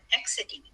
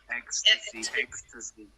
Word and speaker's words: ecstasy: ER, they were so high on exity. Is that how you say it? Ecstasy. Oh, ecstasy. And I was we will ask, well, how many did you take?